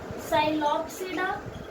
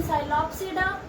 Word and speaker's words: Psilopsida: Psilopsida, Lycopsida, Synopsida, Pteropsida. P is silent.